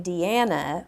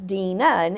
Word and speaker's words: Deana: that's why my name everybody calls me deanna but my name is spelled d-e-a-n-a because it's dean martin so it's dinan and dean martin's daughter's